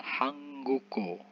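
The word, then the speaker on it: 한국어: Tetapi ketika bacimnya ketemu dengan vokal Hangguko. Hangguko. Seperti itu pengucapannya ya.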